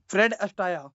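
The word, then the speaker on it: Fred Astaire: दोबारा बताना फ्रेड अटाया फ्रेड अटाया हां जी तो प्रोनंसिएशन ऐसी है वैसे स्पेलिंग उनकी अटायर है ओके तो ऐसा है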